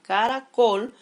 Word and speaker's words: caracol: ejemplo en este caso la palabra caracol su mayor fuerza de voz está en la última sílaba cuando se acentúan las